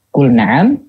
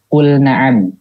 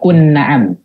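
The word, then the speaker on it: قُلْ نَعَمْ: Nah, contoh misalkan dikata kul na'am. Coba untuk ngucapin. Kul na'am. Kul na'am. Nah, lamnya dibaca jelas kan? Enggak kun na'am.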